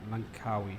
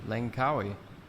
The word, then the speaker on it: Langkawi: out let's do it i know we're mispronouncing that monkawi langkawi that's how it's pronounced okay i don't know